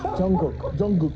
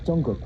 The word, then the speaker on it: Jungkook: Jungkook. Jungkook.